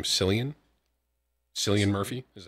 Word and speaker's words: Cillian: love peaky blonders bro it's pronounced Killian oh I'm a fan